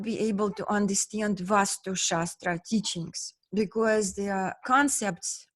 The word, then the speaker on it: Vaastu: So basically that is the essence of Vaastu Shastra. So Vastu is energy, Vastu with one A. Vaastu, two A's, or they pronounce like R.